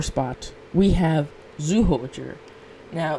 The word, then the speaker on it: Zyuohger: In the number 4 spot, we have Zyuohger. Now, this team can also be actually pronounced as Zyuohger with a J instead of a Z.